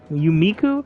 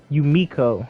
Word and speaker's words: Yumiko: Yumiku? How do you pronounce her name? Yumiku, right? Hold on, where's she at? Yumiko.